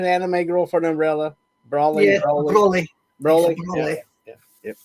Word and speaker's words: Broly: Is that the correct pronunciation? Anime Girl for an umbrella. Broly.